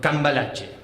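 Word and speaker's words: Cambalache: like a year ago um so yeah so calache that's how it's pronounced I'm sorry I know it's a little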